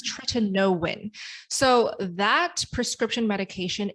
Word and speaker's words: tretinoin: i started using tretinoin i actually pronounced it tretinoin for the longest time and then i realized it's try to know when so that prescription medication